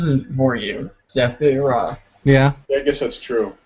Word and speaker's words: Sephiroth: in my mind, and I didn't need a pronunciation. Then people were saying it was a Sephiroth and a Sephirioth, Sephiroth.